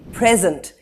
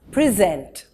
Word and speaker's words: present: chatters word number three in the noun form we will say present he gave her a present the emphasis is on the first syllable as a verb present he is going to present his findings here we emphasize the second syllable he presented her with